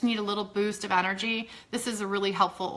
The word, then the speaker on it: En-R-Gee: If you guys haven't tried this, it's spelled funny. It's EN-R-GEE, Energy.